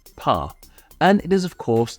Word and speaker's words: pain: In fact, they aren't even pronounced the same. The French one is pronounced as pas, and it is of course the French word for bread.